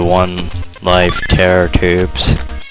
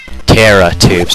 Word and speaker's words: Terra Tubes: a real man to One Life Terror tubes Terra tubes not Terror tubes why did I say